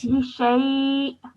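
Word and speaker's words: لِشَيْءٍ: So instead of saying li shay'in, I'm now going to say li shay'. Li shay. Well done, excellent. That was really nicely read. So with the hamza at the end, you have a slight jerk sound at the end, okay?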